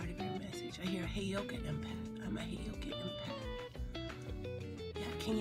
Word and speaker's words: heyoka: and they pronounce it wrong so it's it's pronounced heyoka okay so I'm looking at the playlists in